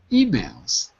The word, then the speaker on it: emails: just a second but the other word was emails emails not emails but emails first syllable emails right the stress is not on the second syllable in emails it's on the first you're absolutely right to